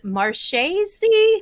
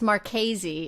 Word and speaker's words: Marchese: And so I'm very excited to introduce you to tonight's guest, Yvonne Marches. Did I pronounce that right? It's a doozy. It's Marchese. It looks like Marches.